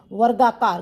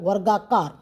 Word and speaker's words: वर्गाकार: र ऊपर लगा दिया वर्गाकार ग का प्रोनाउंस बाद में हो रहा है पहले व आ रहा है फिर र प्रोनाउंस हो रहा है वर्गाकार ठीक है अब स्पष्टीकरण